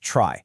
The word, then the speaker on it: trie: And yeah, quick heads up, even though it's spelled T R I E, you'll often hear people pronounce it try, just so it doesn't get confused with a regular tree.